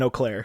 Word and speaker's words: Eau Claire: is that Wisconsin I actually know how to pronounce Eau Claire because I have a friend that goes to school in Eau Claire whoa how was it oh Claire does this